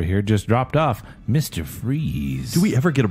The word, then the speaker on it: Fries: AKA Victor Freeze, but it's not spelled Freeze. It's F-R-I-E-S. It's Fries. Victor Fries.